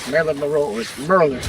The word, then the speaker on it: Maryland: Maryland and I'm like it's either Merlin like the wizard it's either Maryland like Maryland Maro or Merlin like the wizard cuz